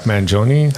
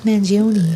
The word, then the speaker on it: Mangione: So, Chuck Mangione, I believe is pronounced his last name.